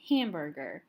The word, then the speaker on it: hamburger: hamburger, I say it hamburger. I don't say hamburger or hamburger. I say hamburger. So the stress is on this first syllable, the ham, hamburger.